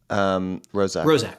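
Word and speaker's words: Roszak: Rozak.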